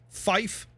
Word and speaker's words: fife: If you notice the pronunciations, 0 isn't necessarily 0. It's they say it faster. It's like 8. 8 isn't 8. It's actually H, right? 9 being niner. 5, fife. It's how you get all the...